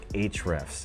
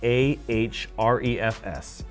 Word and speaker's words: Ahrefs: Number one is Ahrefs.